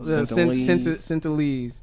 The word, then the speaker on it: Sentinelese: How you pronounce it? North Sentinel? Sentinelese.